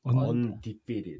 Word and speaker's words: Undefeated: Undefeated. 아, Undefeated. 언디페드. 제가 이가 빠져가지고 발음이 안 나요.